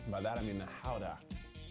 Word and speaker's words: Gouda: The Gouda is good. By that I mean the Howda.